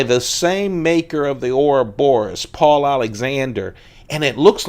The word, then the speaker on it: Ouroboros: Ouroboros. Ouroboros. That's for the pronunciation cops who frequent the channel.